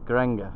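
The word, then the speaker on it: Geiranger: in view in still don't know how to pronounce it. Garanga, that's it.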